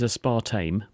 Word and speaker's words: aspartame: the first point is what is a spart tame and I've given the game away in terms of the pronunciation there haven't I it is a